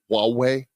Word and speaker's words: Huawei: Travis write both yourself and myself have been ko Elle's for huawei I always have a hard time pronouncing it the Chinese tech giant did I pronounce it right Huawei you did Huawei you know it's funny as